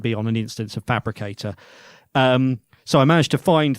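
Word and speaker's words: Phabricator: So I followed the link and it went to a system called Fabricator, spelled with a PH, which looks a bit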